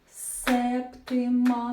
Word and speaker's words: септима: Терція септима. Наголос на перший склад.